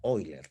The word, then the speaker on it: Euler: dos Ese es el teorema de Euler o se pronuncia oiler también no y luego para terminar